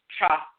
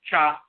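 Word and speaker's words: tcha: If you look in the language of ancient Kemet, one of the terms for the ferry boat is cha. Sometimes they spell it T-C-H-A, sometimes D-J-A, and so forth. But cha.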